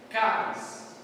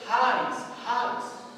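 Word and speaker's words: χάρις: nosso ki, e vão pronunciar como caris, né? Caris. Porém, existe uma outra forma de dizer que é raris, porque ela é cultural, o som sai na garganta, então fica áspero. Raris. Qualquer uma das pronúncias será aceita, tá?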